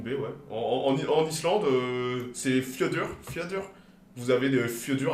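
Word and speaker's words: fjörður: En Islande, c'est Fjödur. Fjödur. Vous avez des Fjödur absolument partout. Le fjord de machin. Patrick's Fjödur, le fjord de Patrick.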